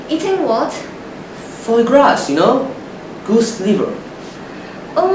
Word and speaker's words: foie gras: Foie gras, you know? Goose liver. Oh my dear. It's pronounced foie gras.